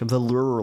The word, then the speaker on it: velour: I was saying it like veler lounge. Velure lounge.